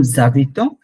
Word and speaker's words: habite: রুমান আপু মনে বলতেছিলেন জাবিত, ও জাবিতে, হ্যাঁ, ভু জাভিতে, জাবিতো, মুজাবিতে, ভু জাবিতে। আর ইল এল জাবিত, জাবিত, জাবিত, কারণ এই এসটা এটাকে ধরে ফেলে। এইচ যেটা মাঝখানে, এইচটা হচ্ছে টোটালি সাইলেন্ট ফ্রেঞ্চে, এক্সেপ্ট কয়েকটা জায়গায়, যেমন